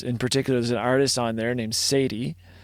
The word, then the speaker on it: Sadye: And there's an artist on there named Sadie, spelled Sadye.